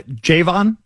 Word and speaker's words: Javon: To clarify, Javon is how you pronounce it?